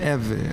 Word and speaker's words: Ewe: So I'm known as an Ewe or an Ewe. Some people pronounce it Ewe.